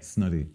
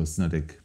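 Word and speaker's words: Snodaigh: pronunciation of Irish names actually you said it better than 90 of the Irish population okay snotty whereas a lot of people go snowdick there's three brothers Ronan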